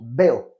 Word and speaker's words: veo: Ça s'écrit VO en français, mais on prononce veo.